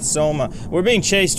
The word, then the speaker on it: SOMA: welcome back to Coma. Rhymes with SOMA.